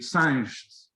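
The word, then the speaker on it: Sanches: is gomes in portuguese sanchez would be science in portuguese rodriguez would be rodriguez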